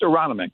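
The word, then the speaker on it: Aronimink: Oh, it's it's just Aronomic. Aronomic. Okay, Sue, how about this? This is the first time that Aronomic Golf Club has hosted the PGA Championship since your guy Gary Player won in 1962.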